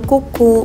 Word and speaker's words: Kucu: Nah ini tulisannya kucu ya, tapi dibacanya itu kuku.